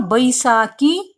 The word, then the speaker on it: Baisakhi: Then it is called Kala Baisakhi in West Bengal. In West Bengal, what is it called, children? Kala Baisakhi. You should remember that the people of West Bengal, for V, they pronounce B.